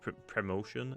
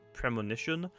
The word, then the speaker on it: Premonition: That's how it's pronounced. I was called Promotion. It's Premonition.